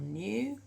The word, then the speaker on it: knew: Few people knew. Now that's the new as in I know something, so it's got that silent K on the front.